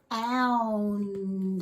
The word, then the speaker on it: ound: So OU says ow, and then remember when we have two consonants that are different, we have to pronounce both of those. So it says ow, Let's say it together. Ow, Now all together, ound. Good job. So remember to make sure that you pronounce that N and that D.